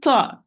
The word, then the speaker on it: ت: It is the tip of the tongue, tip of the tongue with the root of the upper, central, incisor.